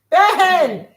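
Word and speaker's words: בן: What's the word for son? S-O-N. Ben. Get up, Ben.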